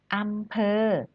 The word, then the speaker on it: อำเภอ: คือ ที่ ว่า การ อำเภอ ของ เรา นะ คะ เรา มา สะกด อ่าน คำ นี้ กัน ค่ะ อำเภอ อำเภอ พอ เจอ เธอ พอ เจอ เธอ เธอ คำ นี้ อ่าน ว่า อำเภอ นะ คะ เด็ก ๆ อำเภอ